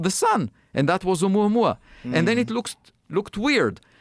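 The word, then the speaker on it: ʻOumuamua: Oumuamua.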